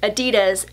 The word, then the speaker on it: adidas: I would like to talk about the brand adidas as a whole because in 2017 I made